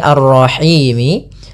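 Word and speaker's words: الرحيم: di akhir bacaan kita Apabila ada huruf yang disukunkan pada dasarnya dia berharakat sini arrahimi karena dia waakaf maka arrahim mati nah sebelumnya ada huruf mad berupa huruf ya maka ini namanya Mad Arid Lis sukun panjangnya berapa harf harakat panjangnya yaitu kita boleh panjangkan dua harakat boleh empat harakat dan boleh pula En harakat kita coba ulang Bismillahirrahmanirrahim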